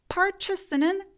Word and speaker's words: purchase: 근데 그럴 것보다는 A하고 O 부분, 여기 밑줄 쳐 있는 이 부분이 있죠. 얘네들이 아까 가오나시처럼 애매한 발음을 힘을 쫙 빼고 발음해 주시면 돼요. 그래서 한번 해볼게요. 구매하다 요거 purchase, purchase, purchase 이렇게요. 그래서 A의 느낌이 아예 사라져요.